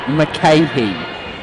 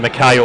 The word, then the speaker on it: McCarthy: Now, it's Mike McCahey, is what I've been told. Okay, McCahey's pretty close. That's easy. I'm fairly sure I'd be calling him McKay all year, so just a little bit of an extra syllable in there.